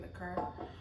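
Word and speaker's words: liqueur: rum with coconut liquor, that's how you say it, liquor.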